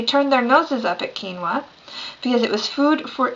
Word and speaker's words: quinoa: i just pronounce it because it is actually pronounced and that is what we're going to talk about quinoa so quinoa comes from the andean region of south america